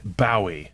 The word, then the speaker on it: Bowie: Bowie, Bowie, and Bowie. The right way. My right way. So you pronounce it Bowie, which no one else on the planet does.